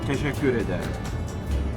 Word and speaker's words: teşekkür ederim: In Turkish we say teşekkür ederim.